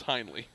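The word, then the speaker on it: Heinley: the pronunciation on that i was hoping it was einhorn i could get some ace ventura quotes going on here it's not though it's highly okay horn finkle you've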